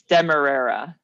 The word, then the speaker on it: demerara: Yes, it's demerara.